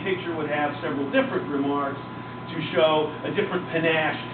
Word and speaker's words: remarque: the plate, and it's they call it a remark. It's just a little image. It's R-E-M-A-R-Q-U-E is the spelling.